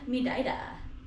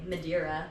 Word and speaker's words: Madeira: Today we're here in Mida, how the locals say it or how the tourists say, MadiRaa, Portugal.